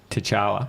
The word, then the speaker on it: T'Challa: Yeah, T'Challa.